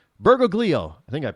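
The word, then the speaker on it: Bergoglio: Mario Berg uh bergo gleo why can't I pronounce his last name bergoo b e r g o g l i o bergoo I think I pronounced that correctly and then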